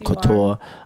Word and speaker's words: Couture: Yes, Couture.